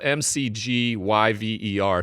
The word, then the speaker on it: McGyver: Hey, his name is MacGyver. I call him Mick G. Okay. It's MC. It's not spelled like MacGyver, the TV show. It's spelled McGyver.